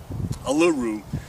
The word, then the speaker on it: Uluru: Let's see, how do you pronounce that in the native tongue? Uluru.